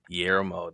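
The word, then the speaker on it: Guillermo: Final trailer for Ozgood Perkins Keeper featuring praise from Fede Alvarez, James Juan, uh, Gellmo, Galler Del Toro Yermo, that's how you pronounce it.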